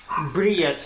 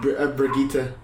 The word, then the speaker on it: Brigitte: Briette, I think, right? No, Brigitte. Brigitte, yeah, or whatever the hell, however the fuck you pronounce it.